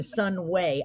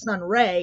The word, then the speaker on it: Sunway: a cool stage name Sun way and I I think I mispronounced it at first I thought it was Sun Ray and I was like no it's Sunway that's so cool that